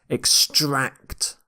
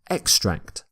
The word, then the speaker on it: extract: here is bouncing extract you stress the second syllable here extract can be used as a verb or a noun but as is often the case with English words we tend to stress the second syllable in a verb when we use this word as a noun we say extract extract so if it's a noun you tend to stress the first syllable in this lecture I'll